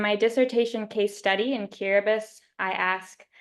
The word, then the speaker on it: Kiribati: So Kiribati, where the TI is pronounced like an S, is a nation of 33 atolls across 3 island chains in the sub-region of Micronesia.